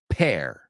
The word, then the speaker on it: pear: It rhymes with air. Es como la palabra aire con una P delante. So, pair, share, compartir, dare, atrever, fair, justo o feria, dependiendo cómo lo escribes.